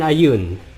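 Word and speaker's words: Ioun: god is seren uh no not certain ray uh i a yoon basically there you go so it's bellar and ayun so ayun is spelled i o u n which is the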